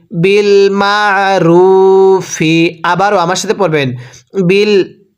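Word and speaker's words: بِالْمَعْرُوفِ: আইনটা উচ্চারণের সময় গলার মাঝখানে চাপ দিয়ে পড়তে হবে। পড়ুন, বিল মা, র ওয়াও পেশ রু, এক আলিফ টান দিব, পেশের পরে ওয়াও সাকিন, ফাজের ফি, বিল মারুফি।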